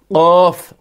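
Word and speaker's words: قَ: رکھیں: فا زبر فا۔ پھر قاف ہے; زبان کے پچھلے حصے کو اوپری تالو کے خلاف استعمال کرتے ہوئے قاف کو گہرائی سے تلفظ کیا جائے گا: قاف زبر ق، گہرا۔ پھر، اس کے برعکس،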